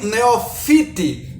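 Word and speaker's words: Neofiti: targum que é o targun neofite Né que é mais pronunciado assim é o maior dos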